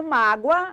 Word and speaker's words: mágoa: E a palavra mágoa, sílaba tônica de mágoa, má, penúltima.